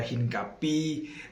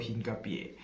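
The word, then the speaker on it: Hincapié: Ini bacanya ya mungkin beberapanya ada yang masih baca hingkapi eh hingkapai. Enggak enggak enggak. Kalau gua nonton Bundesliga, komentator itu nyebut dia tuh Piero Hinkapie.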